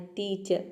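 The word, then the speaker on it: teacher: या फिर आधा प्रोनाउंस करना है टीचर, न के बराबर।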